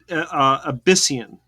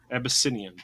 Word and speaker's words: Abyssinian: actually played by two different how do you pronounce that abs a abyssian abyssian Abyssinian uh Rumble and his sister Amber so it's